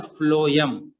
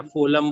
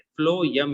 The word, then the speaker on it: phloem: Spelling को पढ़ने में गलती नहीं करना, जाइलम और फ्लोएम। उसको कई लोग फ्लोएम या फोलम फोलम बोलने लगते हैं, वो गलत वर्ड है, फ्लोएम ही कहना है।